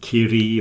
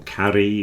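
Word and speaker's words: கறி: And it's not really curry, it's like kiri or curry, or it's kind of similar, and that's just our pronunciation.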